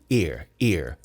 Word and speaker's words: ear: Isso aqui é um ear. Ele não tem nenhum punch no começo.